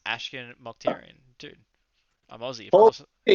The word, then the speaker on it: Ashkan Mokhtarian: It's Ashkan Mokhtarian, dude. I'm Aussie, of course. You actually got it right. Obviously, I can pronounce an Aussie name.